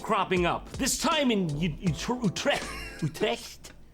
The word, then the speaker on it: Utrecht: Utrecht. Okay. That's it. That's the one. That's the official pronunciation.